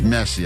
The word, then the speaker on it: Messi: So uh it is Messi. I I should almost take away your point for that weirdass pronunciation of his first name. But take it away. I I don't know. I feel messy. You said Messi and that was right.